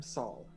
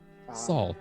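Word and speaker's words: Sol: Hi, I'm Saul. Saul. Nice to meet you. That's spelled S-O-L.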